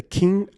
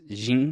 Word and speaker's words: Qin: So this film follows a nameless warrior, Jet Li, who arrives at the king of Qin's. Is it Qin or We can pronounce it Kin. I think in Mandarin it's Jing.